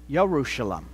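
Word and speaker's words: ירושלים: That's because as English speakers, we say, we pronounce the Y sound in Hebrew with a J sound. For example, you say Jerusalem, right? But if you go to Israel, they say Yerushalem with a Y sound.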